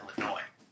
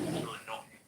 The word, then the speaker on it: Illinois: So I believe, and people are not saying Illinois, it's Illinois. The S is silent, Illinois.